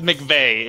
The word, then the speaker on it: McVeigh: Jojo, it's McVeigh is how my last name is pronounced.